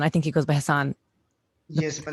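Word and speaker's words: Hasan: I think he goes by Hassan. Yes, the correct pronunciation of that name.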